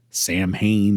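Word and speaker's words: Samhain: I don't celebrate sin or Sam Hayne as some pronounce it.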